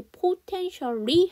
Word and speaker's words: potentially: potentially, 아까 potential은 잠재적인이라는 형용사였고, 여기 potentially 하게 되면 뭘까? 잠재적으로가 되는 부사가 된 거죠. 그런데 재밌게도 아까 potential 할 때는 A가 묵음이었거든요. 근데 potentially 하게 되면 이게 또 다시 살아요, A가.